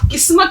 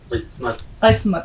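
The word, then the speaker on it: قسمت: अच्छा, किस्मत इसलिए सीख लीजिए कि इसमें काफ का उच्चारण है, आप किस्मत नहीं कहेंगे, आप लिखेंगे काफ plus scene plus meme plus ते, किस्मत। सही बोलिए इसको, किस्मत, शाबाश, बिल्कुल।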